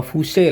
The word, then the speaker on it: Fuse: skring nah skring atau Fuse lah kalau bahasa profesionalnya Fuse Fuse atau Fuse kita bacanya Ya Fus seperti itu kalau misal traavonnya 10